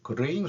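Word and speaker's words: graying: 연이어서 이런 이 데일리에서는 그레잉이라고 발음해야 돼요. 그레잉 소사이어티라고 이 포럼을 여는 모양입니다.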